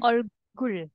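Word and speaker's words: 얼굴: juga wajah wajah tuh olgur bacanya olgul olgul oke yes benar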